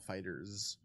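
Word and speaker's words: FighterZ: Let's talk about I'm 5 fairly minutes sure that it actually is pronounced Dragonball Fighters. Fighters. I've heard Fighters, Fighter Z, and Fighter Z. I think it was like disclosed that it was Fighters.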